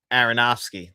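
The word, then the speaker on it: Aronofsky: Aronowski. That's how you pronounce it.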